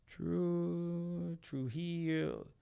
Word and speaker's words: Trujillo: And I'm like, okay, so I could do true heel. Hey, true legal. True legal. And it's same syllable, same everything as my last name.